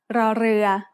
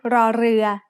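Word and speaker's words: รอเรือ: The sound of ร อ เ ร ื อ as an initial consonant is r, like the double R in burrito when spoken by a native Spanish speaker. In other words, this is an R sound with a trill.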